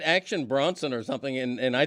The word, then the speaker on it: Bronson: the action star Charles Bronson okay that would make sense too but that that's that's wheelous but Bronson not broen well I I thought